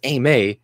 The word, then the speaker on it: Aimee: And my name's just 2 syllables, Aimee.